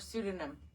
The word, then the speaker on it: pseudonym: like an S yeah that p is silent like in Psycho yeah all right anyways